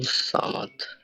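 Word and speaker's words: Samad: এরপরে ধরেন আরেকটা নাম দিই, আবুল সামাদ। এটা কিভাবে উচ্চারণ করবেন?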